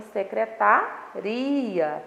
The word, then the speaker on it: secretaria: E na segunda frase, a palavra ela é pronunciada com mais intensidade na sílaba ri, tá?